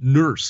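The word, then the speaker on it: Nourse: It was called Trouble on Titan by Alan E. Nurse, is how it's pronounced, N-O-U-R-S-E, Alan E.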